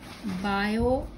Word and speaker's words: Biot: पर उससे पहले just a quick revision of बायो T is silent, S Savart's law.